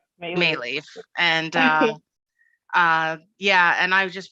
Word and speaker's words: Maleeff: My name is Maleeff. Maleeff. And yeah, and I just won the unlucky lottery in life with an unpronounceable maiden name and an unpronounceable married name.